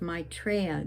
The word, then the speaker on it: Maitreya: And then we invoke the name of Maitreya, the Buddha to be born.